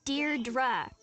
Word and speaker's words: Deirdre: sonnet or something hi didi Deirdre I know it's got that tricky second syllable but I figured it